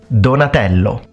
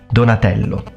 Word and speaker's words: Donatello: now the next turtle is going to be Donatello donello Donatello so let's check out his full name Donatello